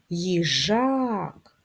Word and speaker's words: їжак: звук к приголосний твердий ставимо наголос їжак наголос на другий склад на а виконаємо гімнастику для очей